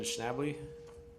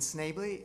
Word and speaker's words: Schnably: favor well it's fine all right um schnably I mispronounced it very close thank you my name is Snavely I'm a professor of law at the University